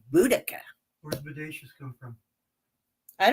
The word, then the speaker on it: Boudica: Boudica or Boudacia? How do you say it? Boudica. Boudica. Boudica? See, because he watched my pirate tag the other day. He's like, it's Boudacia. I'm like, no, I've been hearing these shush.